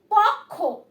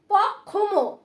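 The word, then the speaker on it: পক্ষ্ম: দেখো বানানটা দেখে নাও, প কয় যুক্ত ব, তাতে কি হলো উচ্চারণ? কয় ব ক, তাহলে কি হলো? পক্ক মানে পাকা। দেন আসো পক্ষ, পক্ষ, ঠিক আছে? এখানে কিন্তু অনেকে বলতে পারো পক্ষম, ঠিক আছে?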